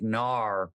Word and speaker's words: gnar: is called Nar country Nar is spelled g-n-a-r it is Action Sports